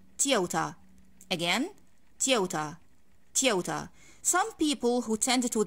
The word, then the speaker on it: Toyota: that thing of course guys i don't say tiota in english that's mere arabic pronunciation if i need to pronounce this word correctly in english i'm gonna say tiota again tiota toyota some people who tend to the american accent